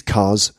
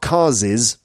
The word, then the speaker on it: cars': For example, these cars' windscreens are both smashed. When you're pronouncing it, it's not cars's, you know, these cars's windscreens. No, it's just these cars' windscreens.